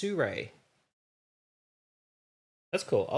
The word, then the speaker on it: Sirui: And it's pronounced Sirui.